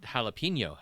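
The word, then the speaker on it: jalapeño: the one that really gets you is that jalapeno has an jalapeno exactly and it's another pepper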